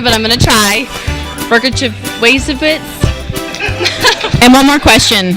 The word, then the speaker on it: Mroczkiewicz: Well, I like to say Rockowitz, but everybody tells me that's wrong.